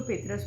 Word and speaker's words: پطرس: कुछ लोग इसको पेतरस पढ़ते हैं, लेकिन असल में इनके स्पेलिंग देखें तो PATRAS है, पतरस। लिहाजा आप इसको ऐसे ही पढ़िएगा।